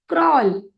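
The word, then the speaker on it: crawl: ए ल यानी एल अब इस शब्द में डब्लू जो है वह है साइलेंट तो जो साइलेंट होता है उसकी हम आवाज नहीं लेते हैं लेकिन उसकी स्पेलिंग का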